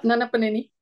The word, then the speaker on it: Nannapaneni: Uh, Her full name is Radhika Nannapaneni. Am I pronouncing it right? Yeah, Nannapaneni.